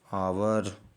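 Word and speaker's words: hour: यदि किसी वर्ड में यच के बाद ओ हो तो यच साइलेंट हो जाता है।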